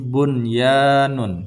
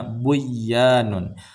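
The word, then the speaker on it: بنيان: Ini bunyanun, tidak boleh bacanya buyanun. Qinwanun, tidak boleh bacanya qiwanun, dan sinwanun.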